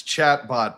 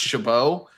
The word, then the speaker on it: Chabot: Everybody thinks it's chatbot, but I am a real human being. It's pronounced Chabot, which is just about as hard as you can pronounce a name that starts with a CH and ends in a T.